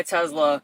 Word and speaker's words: Tesla: Dude, I think I'm going to sell my Tesla. Bonus points for pronouncing it with the Z sound like I do.